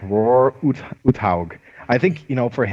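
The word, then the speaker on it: Uthaug: was roar or something hug that's right it's roar hog I think you know for it was he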